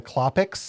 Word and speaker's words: Klopek: At the end of the movie, when the black cop comes, he keeps referring to them as the Klopeks.